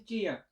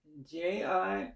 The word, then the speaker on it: Jiya: Yeah, my name is Jiya. Jiya, just like it's spelled, pretty much pronounced just like it's spelled.